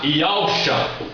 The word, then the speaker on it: Yahusha: Nós temos a pronúncia do nome do Filho na língua original. Aqui está Yahusha. Esse é o nome verdadeiro do Filho do Eterno, transliterado letra por letra do hebraico.